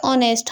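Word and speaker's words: honest: वोल से क्योंकि यहां एच तो आ रहा है लेकिन हमें इसे प्रोनाउंस के से करेंगे ऑनेस्ट हम इसे ऑनेस्ट ओ से प्रोनाउंस करेंगे तो इसलिए ये क्या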